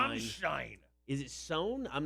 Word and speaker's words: Stein: mudder it's rammstein that's you said it wrong it's stein shine is it sewn i'm